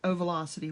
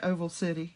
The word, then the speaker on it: O Velocity: O comma Velocity, but it was supposed to be pronounced like O Velocity, one word.